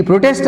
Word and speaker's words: protest: ఇప్పుడు ఈ పదాన్ని ఎట్లా వాడినాం, నౌన్గా అడ్జెక్టివ్ వాడినప్పుడు ప్రో మీద వస్తుంది stress mark. Stress is used as అంది ప్రో syllable. That means first syllable. ప్రొటెస్ట్లో ప్రో first syllable, టెస్ట్ second syllable.